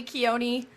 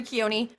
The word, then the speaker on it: Keone: my name is keone a lot of people mispronounce that last name and that's fine because it's hawaiian um also my first name carries they say carry a lot so it's keone um i'm from salt